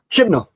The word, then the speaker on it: Chibnall: Chibnall.